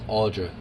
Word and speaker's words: Audra: that right but us oh it's audra i was reading it upside down so i messed it up but i'll spell it